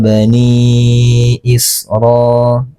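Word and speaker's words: بَنِيٓ إِسْرَٰٓ: Cara membacanya bisa dibaca 2 4 sampai 5 harakat. Itu menurut ee Imam Abu Ya'la ya. Jadi cara membacanya ala bani Isra bani Isra ya.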